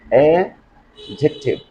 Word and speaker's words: adjective: If you can notice this situation, you'll have to keep silent sound of D. So, my dear learners, the right or correct pronunciation of this word will be that adjective, adjective, adjective.